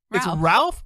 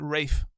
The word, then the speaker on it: Ralph: race names and race it's Ralph but he pronounces it race really I believe so